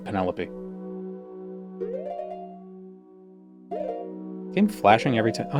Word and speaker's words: Penelope: In high school when we were reading the Iliad, one of the somebody said uh thought it was Penalope instead of Penelopey.